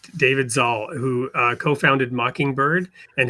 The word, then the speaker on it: Zahl: I'm here with um and I got to look up your name to make sure I pronounce it right, David Zaul, who uh co-founded Mockingbird and has a new book out called The Big Relief.